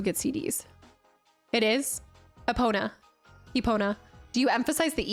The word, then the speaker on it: Epona: Epona.